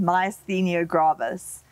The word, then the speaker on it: myasthenia gravis: for having me here shane so it's called myasthenia gravis and it's a neuromuscular autoimmune condition that the